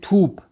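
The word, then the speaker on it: توپ: تھوپ. تے واو پے، جس کو ہم فارسی تلفظ میں پڑھیں گے تھا واو پھا، تھوپ.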